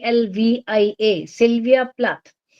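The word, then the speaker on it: Plath: was Sylvia s y LV I a Sylvia plat p l a t h Sylvia plat she was one of the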